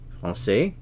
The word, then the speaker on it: français: French, français. Remember the CCD is pronounced like an S in English. This represents an S sound. The sound S.